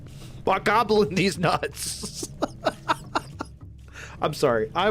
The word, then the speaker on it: Bokoblin: Goblin with a Bach instead. Bokoblin. Bokoblin these nuts.